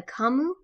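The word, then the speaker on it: Camus: for this week uh with the stranger by kamu i believe that's how you say his name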